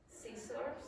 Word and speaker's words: scissors: Scissors. Yeah, what's not pronounced? C.